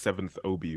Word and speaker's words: 7th Obi: Also, I want to make sure I'm pronouncing the name right. It's 7th Obi, right?